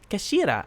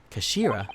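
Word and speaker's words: 頭: end of the hilt it's written as head in japanese but it's pronounced as kashira i believe kashira so mr sogi's words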